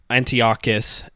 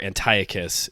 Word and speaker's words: Antiochus: um in the meantime Antiochus as you say in Hebrew or Antiochus if you go with the Greek pronunciation he like desecrates the